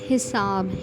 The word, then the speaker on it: حساب: ہوگا۔ پہلا لفظ ہے حساب۔ حساب میں پہلا حرف ہے مکسور، دوسرا مفتوح اور تیسرا اور چوتھا ساکن۔ اسی کو دیکھتے ہوئے